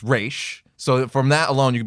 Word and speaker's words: Ra's: is talking to Terry she says basically says something it's race not Raz common misconception right so it's race so from that alone